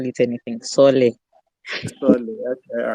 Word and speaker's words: Soole: First off, tell me, is my pronunciation of this correct? Am I butchering the name? It's Soole, but yeah, you can call it anything. Soole.